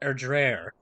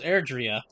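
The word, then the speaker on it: Erdrea: Sing it across all Erdreer. Oh, it's pronounced Erdreer. I thought it was Erdria.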